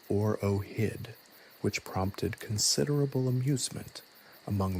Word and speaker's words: OROHD: The decree further mandated the establishment of a new governmental department, the Office for the Regulation and Oversight of Handheld Digital Devices, OROHD, pronounced OROHID, which prompted considerable amusement among the court jesters.